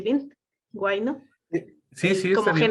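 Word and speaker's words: huayno: Nos mencionaste, por ejemplo, el guayno, que es una, sí pronuncié bien, guayno, Sí, sí, está como bien.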